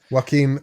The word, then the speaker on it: Joaquin: and david correos says whacking phoenix oh god joaquin phoenix joaquin i i mispronounced it but what's a what's